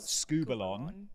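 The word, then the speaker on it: σκύβαλον: It is, let me pronounce it right, skubalon.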